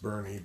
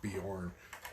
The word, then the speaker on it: Boerne: It's pronounced Berne, but it looks like Bjorn. Don't let that fool you.